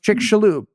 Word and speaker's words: Chicxulub: the chicka Club impact which is apparently pronounced chick shaloo as though it was Tony Schoop's brother or if you want to go all the way Spanish about it it's Chalo I don't think that's